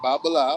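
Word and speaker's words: Babalawo: In the Ifa oracle, for example, a trained priest, a Babaloa, whatever, is how you say it. Yeah, you got it right. Babalao.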